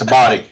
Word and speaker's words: Abate: Up north, what, Italian, it's Abadi.